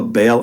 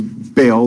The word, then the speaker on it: Baal: spells it B A how the Bible spells Bale or B as it's pronounced in Hebrew uh which is the